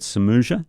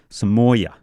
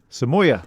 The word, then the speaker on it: Samoya: and by the way, I got pulled up last week. Remember we had, I said Samuja, Yeah. Kale, and so the proper pronunciation is Kale Samoya. Samoya. Yeah, so my buddy from BMW, Wolfgang, he said, mate, in the Nordic areas, it's Samoya, but it's also Kale, not Cali and things like that.